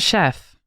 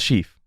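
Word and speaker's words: shef: gonna start with Chief it's s-h-e-f is that not Chef I know it's Chief oh uh for like a long e I thought it was Chef also but they provide addict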